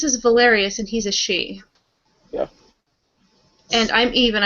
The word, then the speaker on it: Sidhe: He is a she. It's Sidhe. It's spelled. It's just pronounced she because I believe it's Gaelic.